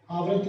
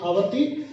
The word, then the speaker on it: आवर्ती: इसको आवर्ती लिखे तो ज्यादा बढ़िया रहेगा, आवृत्ति की जगह आवर्ती और अनावर्ती की जगह अनावर्ती। सही प्रोनाउंसिएशन है इसका अशांत आवर्ती और अशांत अनावर्ती।